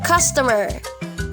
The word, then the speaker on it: customer: work long syllables so you say customer customer and stress point as a first syllable listen customer customer